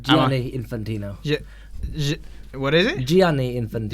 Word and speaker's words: Gianni Infantino: with the FIFA president Gianelli infantino is that how are you pronounce Allah no cuz you're adding a few letters they're not there is just Gianni Infantino yeah what is Gianni